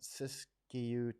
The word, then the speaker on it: Siskiyou: How do you pronounce that? Siskiyou County.